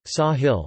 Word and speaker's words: sāḥil: The name is derived from the Arabic word Sahil, Sahel Arabic pronunciation, Sahil meaning coast or shore in a figurative sense